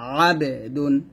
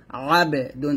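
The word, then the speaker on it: عابدون: ডাল 2 পেশ দুন, আবে দুন, আবে দুন। এই যে বাঁকা চিহ্নটা আসছে, মানে হচ্ছে আইন উচ্চারণ করতে গিয়ে যেন হামজার মতো, অর্থাৎ এই হামজার মতো না হয়ে যায়, আবেদুন না হবে আবেদুন।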